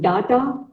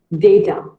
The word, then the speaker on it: data: It is not data, it is called data. Say data.